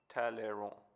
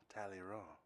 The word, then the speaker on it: Talleyrand: Philippe Talleyrand. Talleyrand. Yeah, the D silent.